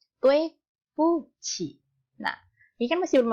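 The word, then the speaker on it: 对不起: Jadi ingat-ingat kalau misalkan ada ini dui buki, tolong jangan dibaca tokpoki ya, atau dibaca dui buki, tapi dibacanya tue puci.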